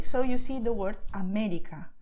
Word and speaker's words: América: You stress where you see the acento, América. Or perdón, you see, perdón. You just go and stress it. To stress, I mean, you just emphasize this vowel, okay? You pronounce it a little stronger. You do not change the sound of the vowel. You just go all for it, okay?